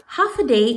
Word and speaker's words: Håfa Adai: Håfa Adai is how you say hello here on Guam.